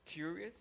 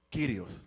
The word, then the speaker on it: Kyrios: Se escribe kurios It writes curious, y se pronuncia. and it's pronounced. ¿Lo recuerda? Do you remember? No lo recuerda. Kyrios.